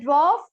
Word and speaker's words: dwarf: The dwarf showed many tricks. So which is the noun here? Draft. Dwarf. Very good. Dwarf. Yes, R is silent. You will not pronounce the R.